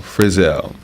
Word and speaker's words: Frizell: Last name Frizell. Friz as in zebra. ELL. Frizell.